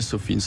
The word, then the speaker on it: SOFINS: Donc en fait, c'est vrai qu'on prononce plus à l'anglais Sophins.